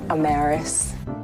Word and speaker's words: Amaris: danielle i'm maris owens yes it is pronounced amaris don't ask my parents though they kind of still argue about how to pronounce my name anywho listening to you